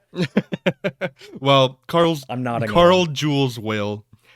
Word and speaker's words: Weyl: Carl Jules Whale, Wheel. I don't know how to say it. It's Weyl.